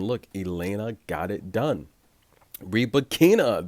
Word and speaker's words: Rybakina: Rybakina, that's how she wants it pronounced. I'm sorry. It looks like Rybakina.